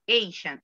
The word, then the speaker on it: Asian: No recuerdo cómo lo pronunciaste, pero lo correcto es Asian.